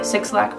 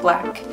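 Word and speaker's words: 6LACK: This is an excerpt from a song by Six Lack, pronounced Black, and this is a hand, the moon.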